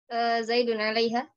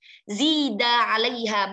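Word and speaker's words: زيد عليها: Zaidun alaiha. Zaidun alaiha mithlaha. Itu bukan Zaidun ya. Zida alaiha mithlaha. Kalau Zaidun itu Zaid. Zaid nama orang ya.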